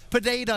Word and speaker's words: Pereira: But the real storyline here surrounds Pereira, Pineda, if you want to pronounce it correctly, the native of Brazil.